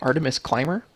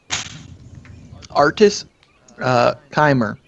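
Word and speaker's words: Artus Cimber: Artemis Climber? Artist Climber. Climber. It's spelled Artuscimber.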